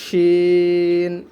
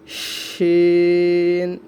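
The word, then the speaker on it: شين: তিনটা নোক্তা দিয়ে দিলে এটার নাম হয়ে যাবে শিন, শিন। সকলে উচ্চারণ করুন, শিন, শিন, সিন, শিন, সিন, শিন।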